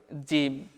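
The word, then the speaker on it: جيم: এই জিমের একটা উচ্চারণ হচ্ছে যে জিম জিহুবার মাঝ হতে শক্তভাবে আদায় হবে।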